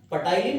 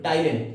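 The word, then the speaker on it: ptyalin: सा enzyme salary एमाइज इसका दूसरा नाम पटाइन कि नहीं टाइलिन ठीक है स्लेवरी अमाइज का दूसरा नाम पटाइन पी हटा देते हैं साइलेंट रखते हैं व्हाई डज अवर माउथ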